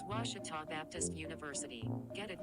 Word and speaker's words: Ouachita: at a baptist university back in texas everybody pronounces it wichita but really it's ouachita washington washington how would you pronounce it it's washita baptist university get it